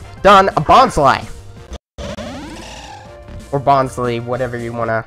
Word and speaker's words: Bonsly: dun dun dun dun a bug's life or bonds leave whatever you want - I think it's pronounced actual pronunciation is bonsly here I'm gonna or we I